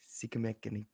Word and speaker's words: Sikamaniko: They pronounce it Sikamaniko. So Sikamaniko.